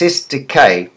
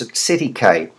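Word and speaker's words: cestui que: trust acidic a trust is properly pronounced s decay but lawyers popery popularly pronounced at city cave all French it's an old-fashioned expression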